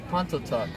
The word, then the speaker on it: Pontotoc: Pontotoc.